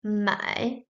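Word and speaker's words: 买卖: The second has a component of the top added, and it is pronounced mai, mai, mai, mai, means to buy and to sell.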